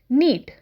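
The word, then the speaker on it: knead: आते गूंदने को हम कहते हैं नीत के इस साइलेंट अब जो आता गुण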